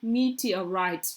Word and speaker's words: meteorite: meteorite meteorite me huh meteorite why is difficult for us because it's actually it's right different and it's pronounced different so this is the